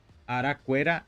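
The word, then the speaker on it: arakuéra: Araquera, araquera. Quando nós temos o que com o acento, não vamos pronunciar que.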